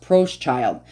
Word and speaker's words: Proschild: bear and approached child okay so it is pronounced Pros child so the American Market